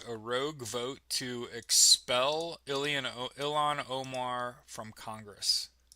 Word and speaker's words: Ilhan: rogue vote to expel Ilhan Omar from Congress. Is it Ian Omar? How do you pronounce her name? Is it Ilhan? Ilhan Omar? Ilhan? It's not Elon, right?